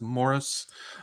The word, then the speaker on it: Maurice: It's It's spelled Maurice, but it's pronounced Morris. Uh Morris Strong and Muel Gorbachev.